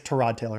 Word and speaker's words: Tyrod Taylor: I think it's Trod Taylor is how he pronounced it.